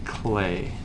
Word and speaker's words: Klee: his name right here it's spelled kle e and he's German and swiss so he spells his name kind of funny but he really was